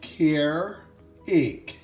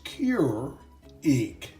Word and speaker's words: Keurig: One way, perhaps, is Keurig, but a closer way, according to the internet, is Keurig.